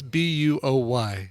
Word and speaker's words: buoy: We were talking about something else, and I said, by the way, how do you pronounce B-U-O-Y? And he's like, I pronounce it like boy.